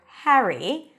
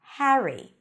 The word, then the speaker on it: Harry: Rowling by the way the name Harry or Harry could be pronounced in two different ways in British English it's more of an a sound before an R Harry Harry in American English